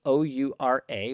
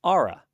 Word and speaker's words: Oura: And one of the things I believed was that the pronunciation of their company, O-U-R-A, was Oura. It's not. It's Aura, like A-U-R-A.